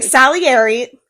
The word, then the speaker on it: Salieri: Salieri.